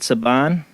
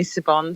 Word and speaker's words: Siobhan: name are you there is it saban well done people do call me sibon saban and i don't mind call me whatever you